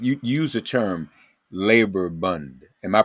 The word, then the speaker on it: Bund: It actually was an organization, the Jewish Labor Bund, BUND, and that, I may be giving it a Yiddish pronunciation because Yiddish was their language of choice Right.